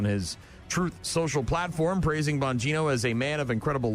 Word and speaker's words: Bonino: Trump naming Dan Bonino is that how you pronounce that Bonino am I close that's how you say it